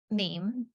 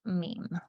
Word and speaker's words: meme: to know is that meme came from a Greek root it's a monosyllable that sounds a bit like a gene and then he said